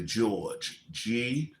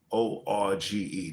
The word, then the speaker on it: Gorge: It's called Breaking in the George. Gorge. That's how you spell it.